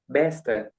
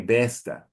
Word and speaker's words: besta: I think you you say best with an open sound but it is best more closed. Okay. Besta.